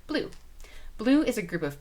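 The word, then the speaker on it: BLUU: It's pronounced just like the color blue.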